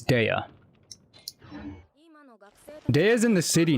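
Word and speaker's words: Dehya: How do you pronounce her name? Uh Punchy punchy catgirl is Dea. Yeah, it's Dea.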